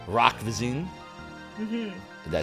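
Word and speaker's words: Roch Voisine: His name is Rock Vizine. Rock Vizine?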